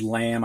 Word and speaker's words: lamb: you press pause now words with a silent b in them and we'll start with the word lamb i think most students